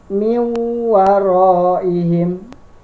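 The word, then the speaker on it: مِنْ وَرَائِهِمْ: Cara membacanya dengan idgham bi ghunna di sini ialah wawonya, huruf w-nya ini sampai 3. Jadi miwaroihim. Nah, nunnya tidak ada, langsung dileburkan. N-nya langsung diganti sama huruf w.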